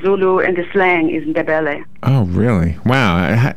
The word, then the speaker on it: Ndebele: What is the other language? Ndebel? What is that? The other one that you couldn't pronounce is called Ndebele.